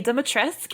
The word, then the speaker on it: Dimitrescu: Apparently, I've learned now that apparently it's more accurate for the Romanian language to pronounce the U at the end, but that was not the direction we were given when we shot the game, so I say Dimitrescu.